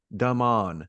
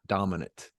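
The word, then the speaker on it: Damane: out of me is it's Daman, silent E, not dominant.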